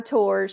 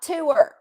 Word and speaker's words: tour: t t t no tour is a one syllable word tour tour not t and I just wanted